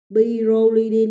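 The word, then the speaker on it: pyrrolidine: Pyrolidine nha. Hồi nãy sáu cạnh chứa một nitơ là bipyridine. Thì dòng 5 cạnh chứa 1 nitơ người ta đọc là pyrolidine.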